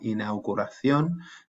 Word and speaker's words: inauguración: Remember I said inauguration, T-I-O-N in English, almost always C-I-O-N in Spanish with the accent on the O. So la inauguración de Biden.